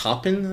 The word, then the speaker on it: Taupin: I want to say Taupin. That's how you say it.